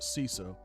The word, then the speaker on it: CISA: cyber security infrastructure Security Agency also known as cisa or we pronounce it cesa uh the alert noted that R has has